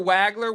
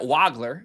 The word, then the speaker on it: Wagler: Quiet night for Wagler. We'll get to that. Waggler, excuse me. We finally got the pronunciation of his name correct.